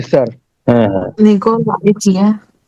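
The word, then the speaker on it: 家: Chia chia. Chia. অনেক সময় একটু জিয়ার মতো উচ্চারণ হয়।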